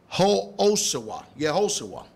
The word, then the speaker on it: Yehoshua: The word Joshua is pronounced in the Hebrew, it's in 3091 of the Hebrew lexicon, is Yehoshua. Yehoshua.